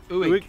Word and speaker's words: Uig: Uig. So it's U I G. Is it Uig?